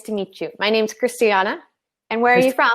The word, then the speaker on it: Kristianna: But the I pronunciation is the same, okay. Christiana.